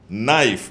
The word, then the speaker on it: knife: the p is silent knife the k is silent wife mastercard is speaking